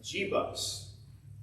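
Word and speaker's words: Jebus: jerusalem was a city called uh in fact pronounces right g bus j e b u s before it became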